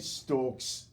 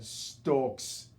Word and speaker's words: Stokes: I hate it and stalks you gotta say it like him Stokes I thought that I